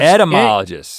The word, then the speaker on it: etymologist: to tell us and somebody's mispronouncing it it's not end there's no n in it yeah because that's the